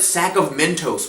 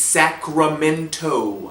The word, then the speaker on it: Sacramento: pronounce the state capital I swear I heard him call it sack of Mentos one time sack of Mentos Arnold it's Sacramento MK I don't care